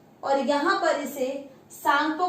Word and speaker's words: Tsangpo: और यहाँ पर इसे सांगपो कहा जाता है, TSANGPO। टी से स्टार्ट होता है, टी साइलेंट है यहाँ पर, जैसे सुनामी में टी से स्टार्ट होता है, टी साइलेंट, ऐसे ही सांगपो है।